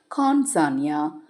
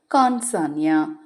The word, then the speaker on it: கான்சான்யா: தேவதைகள் அந்த சக்தி வாய்ந்த தேவதையுடைய பெயர் எப்படி உச்சரிக்கணும் அப்படின்னு பார்த்தீங்கன்னா கான்சான்யா கான்சான்யா கான்சான்யா அப்படின்னு உச்சரிக்கணும் கான்சானியா நீங்க எழுதவும் செய்யலாம் எழுதுறதாக